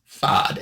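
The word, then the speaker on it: Fasaud: Uh it's spelled F A S A U D, but I checked and it says it's pronounced FOD. F Ah- O D. So FOD, he's a living television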